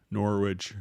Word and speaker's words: Norwich: from uh fred that norwich rhymes with porridge so thanks for letting